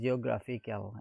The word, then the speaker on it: geographical: And the adjective form geographical, again you find it on the third from the right.